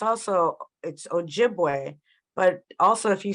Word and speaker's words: Ojibwe: it's Anishinaabe, but it's Ojibwe. But also if you say Ojibwe really fast, because the Ojibways were known for speaking really fast, and you say Ojibwe, Ojibwe, Ojibwe, Ojibwa, it turns into Chippewa.